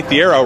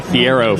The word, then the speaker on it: Thiero: It's like hero. Yeah. So that's just funny. UK let us say Thiero for over 2 years.